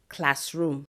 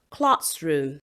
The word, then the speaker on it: classroom: They would usually say classroom. No, it is classroom. The first syllable is stressed and not the second syllable.